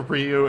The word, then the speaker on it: Ryu: I'm saying it right people have told me like a million times it's either reor Ryu and I stopped care it's Ryu thank you or if you